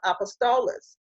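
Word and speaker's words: ἀπόστολος: He gave some apostles, or it's pronounced apostolos, and that word means to send out.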